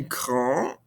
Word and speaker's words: grand: So again, notice how we're not pronouncing these ending consonants in French. Grand, petit. I don't hear this ND. I don't hear this T. Petit, grand. However, adding this vowel, adding this E at the end, we don't pronounce the E, but we do hear those consonants now.